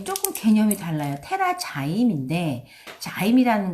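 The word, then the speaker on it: TerraZyme: 테라자임인데 자임이라는 건 효소란 뜻이기 때문에 한국에 테라자임이라고 못 들어와요. 영어도 테라자임이라고 이렇게 발음 그대로 써놨죠.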